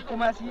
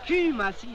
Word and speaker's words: Kumasi: Qu'est-ce que c'est que c'est Kumasi là? C'est Q de Q. Non, c'est Q. Les Anglais prononcent U comme OU, alors on lit.